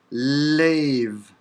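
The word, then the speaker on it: לב: So, in the Hebrew word for heart, lev. Lev. Again, the second character is bet, but it comes after a vowel, and so it does not have a dagesh, and it's pronounced v.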